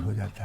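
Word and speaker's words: whose: हुज, तो यहाँ भी W साइलेंट।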